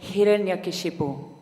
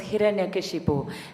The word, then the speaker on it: Hiranyakashipu: His name was Hiranyakashipu. And I don't expect you all to pronounce that correctly first time round. His name was Hiranyakashipu.